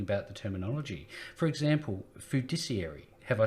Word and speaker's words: fiduciary: For example, fiduciary. Have I said it right? Fiduciary, yeah.